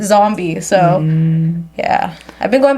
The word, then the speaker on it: Zumbie: I always get Zumbie and I'm like, don't focus on the U. It's not about the U. I mean, it is about the U, but as long as you follow, then you'll know to pronounce it Zombie.